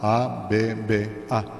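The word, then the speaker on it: אבא: Dicen Inma con doble M, I-M-M-A, I-M-M-A, Inma, o dicen Abba, A-B-B-A, Abba o Inma.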